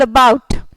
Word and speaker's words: about: You don't say bout, you don't say about, you say bout. You know, you don't even almost pronounce it. It's so short vowel. It's a very, very short vowel, about.